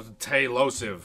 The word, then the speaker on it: Tailosive: Tail, like a cat, and then the last part of explosive, that osive, O-S-I-V-E.